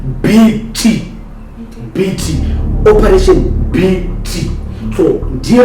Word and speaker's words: Biti: Yes, it's pronounced BT.